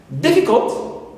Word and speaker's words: difficult: Now, for three-syllable simple adjectives, we have innocent, right, so in here is stressed, first syllable. Difficult, D also here, the first syllable in this adjective is stressed, and also insolent, so in is my first syllable and it is stressed.